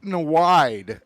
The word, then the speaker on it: Nyweide: Sophie Nweide, that's spelled Nyweide.